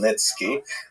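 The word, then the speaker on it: Khmelnytsky: It's actually pronounced Nitski with a guttural at the beginning.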